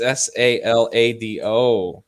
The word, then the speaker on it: Salado: Wait a minute, I did spell that right. What the hell are y'all talking about? No, it's SALADO.